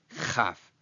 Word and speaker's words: chaf: So when the dot is present, it is kaf, and when it isn't present, it is chaf.